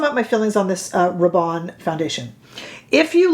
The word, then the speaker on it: Rabanne: It's not Rabanne, they said.